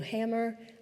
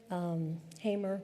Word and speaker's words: Hamer: And my father really speaks very highly of Fanny Lou Hammer, Hamer , sorry I always pronounce it incorrectly, who was a real stalwart.